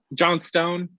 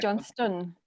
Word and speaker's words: Johnstone: Is it Johnstone? It's not. Annoyingly, it should be, but it's pronounced Johnstone.